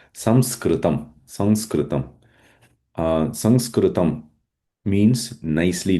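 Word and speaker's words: संस्कृतम्: So many times we say sanskrit. Um uh in south India they say samaska and then in English we say Sanskrit. What is the right word for pronouncing? That is samskrum.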